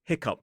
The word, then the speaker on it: hiccough: But this word is technically hiccup. So, we have cough, rough, plow, hiccup.